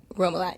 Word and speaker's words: Roumillat: We're sitting with Miss Roumillat. Roumillat, yeah. Okay, I'm so glad I pronounced that correct.